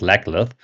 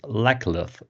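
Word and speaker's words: Laclith: But yeah, now in our reread, when I pronounced it in my head, um, it was quite obvious that mm-hmm, it very much sounds like Legless.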